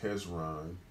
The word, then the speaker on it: Hezron: wrong was it Israelite um well actually is pronounced hezron um then closed and it was the sun